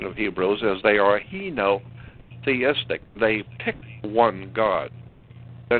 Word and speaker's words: henotheistic: we call the Hebrew people were a heo it's spelled h e n o very simple h e n o theistic henotheistic henotheistic means picking one out of a